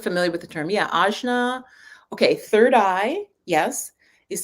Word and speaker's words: Ajna: Yeah, Ajna. Okay, third eye, yes, is the English translation, or Ajna, Ajna, or Agnya is kind of the more proper pronunciation.